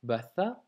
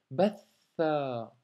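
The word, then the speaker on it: بَثَّ: Ensuite, batha, tu vois, on doit doubler la lettre tha. Donc ce n'est pas batha, mais c'est batha.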